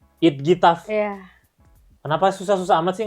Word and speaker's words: IDGITAF: Coba gimana bacanya? Bacanya itf. It gitaf.